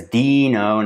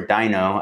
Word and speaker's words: Deno: So that's Deno, not Deno or Dino.